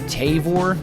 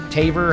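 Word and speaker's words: Tavour: um as well you can get it through tavor taver however you say it yeah we pronounce it t-a-v-o-u-r j-b-o-u-r you can get it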